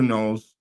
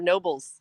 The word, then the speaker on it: Nobles: So once again, get a hold of Knowles or Nobles. Keisha. And how do you say it? I always say it wrong, huh? It's Nobles. Nobles. Yes, you always say Knowles.